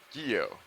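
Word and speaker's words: guyot: subset of seamounts which I believe I've been mispronouncing my entire life up until this morning I believe the correct pronunciation is guyo Geo Geo there we go uh it's spelled g-u-y-o-t and uh agio is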